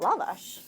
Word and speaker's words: lavash: And we did a book talk in LA, and they said, "Can you please tell people to pronounce it lavash?"